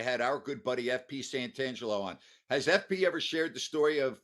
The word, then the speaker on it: Santangelo: on mispronouncing your name instead of santangelo he was calling him san angelo without the t so time went by